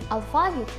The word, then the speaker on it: алфавіт: У цьому випадку правильними будуть два варіанти наголошування слів. Йдеться про подвійне наголошування, але перший варіант алфавіт, наголос на другий склад, є більш поширеним.